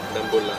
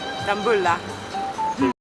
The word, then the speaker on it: Dambulla: Dambulla. Dambulla. Dambulla.